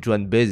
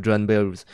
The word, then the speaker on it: Joan Baez: Je prononce comme ça parce que sinon ça fait Joan Baez et ça fait bizarre. c'est B-A-E-Z, donc c'est voilà.